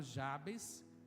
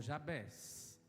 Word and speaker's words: Jabes: falar sobre esse personagem chamado Jabes ou Jabés. As 2 pronúncias estão corretas.